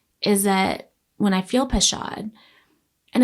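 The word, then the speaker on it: pachad: I'm going to not pronounce this properly, but pashad p a c h a d and yura y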